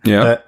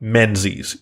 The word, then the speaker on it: Menzies: Well, then you also get this is actually a Scots surname, Menzies, like Menzies. You'd think, right?